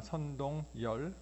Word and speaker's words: 선동열: 선동열. 근데 동열 이게 발음도 힘들고 하니까 본인 스스로가 이제 선동열이라고 발음을 하니까 이제 선동열이 되었는데, 이 꽃이 무슨 꽃인지 아십니까?